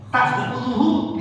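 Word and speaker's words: تأخذه: La ta'khudhuhu. Ya. Ingat, ta'khudhuhu di sini hamzah, bukan ain. Jangan nanti bacanya la ta'khudhuhu. Jadi la baca itu diubah jadi a. Nah, itu enggak boleh.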